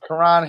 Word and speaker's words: Karan: Did I say it wrong? Yeah, you said Karen. Look, Karen is a running back, and he's just going to do great things. Karan Higdon, my bad.